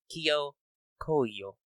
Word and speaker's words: Kijyo Koyo: As it's in my notes later, the J is silent, the O's are long. Kijyo Koyo.